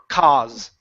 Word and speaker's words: cause: one vowel sound so the A and the U only create one sound we don't want to say ow it's only a c cause Okay probable call okay